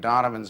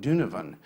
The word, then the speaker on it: Donovan: talk, I've been mispronouncing Donovan's name uh uh in it. And if you were from uh Irish first warden in Buffalo, you pronounced it Dunivan, not Donovan, like I did.